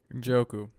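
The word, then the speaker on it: Njoku: Uh, David, do you know I can't pronounce his name for me, Adam? Uju. Yeah, David Ojoko.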